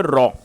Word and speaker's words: row: इसकी जो सही प्रोनाउंसिएशन है वो है रॉ।